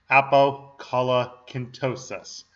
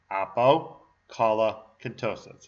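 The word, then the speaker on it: Apocolocyntosis: really unpronounceable name, so let me give you another run through once again, very slowly, of this name, Apokalakintosis. Once again, Apokalakintosis. It's not actually that hard to say. All right, so Apokalakintosis is the only work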